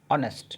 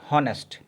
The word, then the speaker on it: honest: Silent and we have to pronounce ऑनेस्ट, नॉट हॉनेस्ट। हम इसे हॉनेस्ट नहीं बोलते, ऑनेस्ट बोलते हैं।